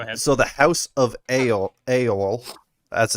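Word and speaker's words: Eorl: of mind go ahead so the house of a AOL as it's pronounced e e o r l that's like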